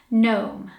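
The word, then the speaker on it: gnome: word is this one this word has a silent G and a silent E so to pronounce this word you just say the three middle letters Nome Nome the third word is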